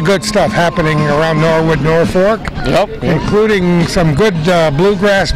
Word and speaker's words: Norfolk: from Norfolk North yeah nobody knows how to pronounce in the office I hear they're folk and everything else except Norfork right the way it's supposed to be yep all these lots